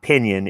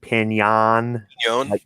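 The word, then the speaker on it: piñon: you're it's it's not it's not pinion it's pinyon anyon there's something Vignon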